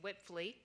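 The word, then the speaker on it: Wipfli: to say it it's whipley um when you read it w-i-p-f-l-i it doesn't always sound the way it looks but but that is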